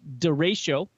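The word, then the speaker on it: derecho: just for the record it's apparently it's pronounced deratio and it's a widespread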